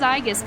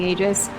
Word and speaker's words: Aegis: right Aus AIS I I always thought it was Aus because that's how my friend pronounced it and then it ended up being Aegis um you must secure the